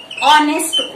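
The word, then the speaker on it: honest: इसका first letter क्या है? कंसोनेंट है, लेकिन इसका साउंड कैसे आ रहा है? ऑनेस्ट। उसको बोल रहे हैं हम ऑनेस्ट, प्रोनाउंस कर रहे हैं ऑनेस्ट।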